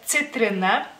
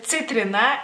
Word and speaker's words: citrina: entre comillas, problema, porque en lituano la C se pronuncia de diferente manera, que es C. C es como si fuera TS juntas, digamos así.